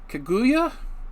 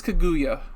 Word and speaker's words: Kaguya: oh i knew how to pronounce this down draw on the blank kaguya i think it's kaguya the tale of princess kaguya this is based